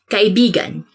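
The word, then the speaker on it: kaibigan: this word because like you have to say it like this kai began because means friend but when you twist it a bit and say it like this that's kind of it's not really a natural way of saying it but it actually means lover so like when you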